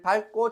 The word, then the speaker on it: 밟고: 지민이가 하나도 필기 안 해서 지민이를 밟고 지나갔어. 우리는 밟고라 해. 근데 원래 표준 발음은 밥이야.